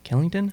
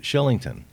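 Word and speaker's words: Kylington: K but it's Shillington he's Swedish and it's pronounced Shillington and he got his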